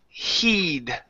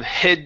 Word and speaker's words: heed: good let's go to heed a long e sound instead of head snare he heeds near